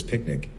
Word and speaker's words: PQNK: later we renamed it pqn K pronounced as picnic standing for Peter kinam